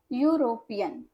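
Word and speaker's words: European: ठीक है, यूरोपियन, हालांकि वॉवेल से शुरू हो रहा है ई से। ठीक है, लेकिन हम उच्चारण कैसे कर रहे हैं, य से, यूरोपियन।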